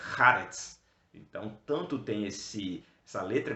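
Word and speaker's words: הארץ: a última palavra é Haaretz. Então, tanto tem essa letra cultural no começo, ha, né? Puxa lá de dentro, Haaretz. E no final, o Tzad, que tem esse som. Então fica Haaretz.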